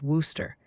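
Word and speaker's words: Wooster: Multiple witnesses say Worooster, Ohio is pronounced Worooster.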